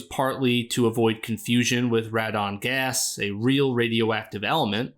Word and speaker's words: Radon: As you can see from the Japanese poster and how the monster's name is pronounced in the original movie, its actual name is Radon, a shortened form of pteranodon.